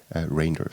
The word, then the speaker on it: Reynders: So if you're wondering how to pronounce my name, it's actually, like a long A, Reinders.